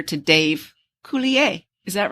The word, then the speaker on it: Coulier: It's It's like French. It's a French word. I can't say it, but yes. You would know. Coulier.